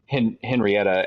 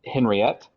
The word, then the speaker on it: Henriette: founded the forges, and I kept saying Henrietta, and then I think halfway through, like at the beginning of the episode, we said it right. It was Henriette, and then like halfway through, we started mixing it up with